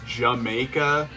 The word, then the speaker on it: D'yer Mak'er: And yeah, the song is supposed to be pronounced as Jamaica, but it's also a British dumb slang joke where they're like, "Did you make her? Jamaica?"